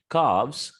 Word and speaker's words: calves: and number five word l is silent the pronunciation will be half halves calf calves wolf wolves here we have